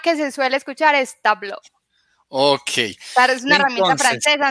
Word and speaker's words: Tableau: pronuncia Natalia cuéntame tú es muy relativo en realidad se supone que tablo pero no hay necesidad